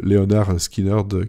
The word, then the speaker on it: Lynyrd Skynyrd: Lynyrd Skynyrd, c'était juste une façon de prononcer Leonard Skynyrd, qui était un des profs des gars qui étaient dans le groupe justement avant.